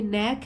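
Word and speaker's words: knack: शी हैज़ अ नैक for making even the dullest moment fun and enjoyable, ये नैक है, इसमें जो के वो साइलेंट होता है, नैक मतलब निपुणता, निपुणता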